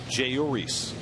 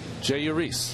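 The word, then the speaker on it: Jeurys: Jayuris. Jayuris. Jayuris. Jayuris. Jayuris. Okay. Jayuris. So it's like there's no accent anywhere on any syllable.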